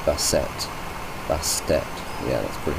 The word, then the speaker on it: Bastet: There's Neith, Freya, Loki, Balset.